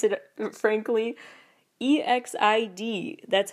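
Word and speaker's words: EXID: I pronounce it frankly e XI D that's how it's spelled and pronounce it is not exit as an exit with a d it's just exi D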